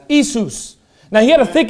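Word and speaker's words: Ἰησοῦς: and then i said how do you say jesus in greek and he said isus i said you don't say yeshua he goes no he said it's isus now he had a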